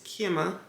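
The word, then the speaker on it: Kema: say his name but I think it's kimma kimma kimma it's k e m a cuz I had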